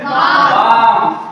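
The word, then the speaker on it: balm: आठवां number B ए एल एम, तो क्या पढ़ेंगे, बाम। बाम में क्या है, एल के बाद एम आया हुआ है इसलिए एल जो है साइलेंट होगा।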